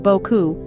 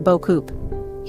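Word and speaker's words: beaucoup: we have silent letters French is notorious for its silent letters especially at the end of words so the word Boku is pronounced Boku not boup here's a tip when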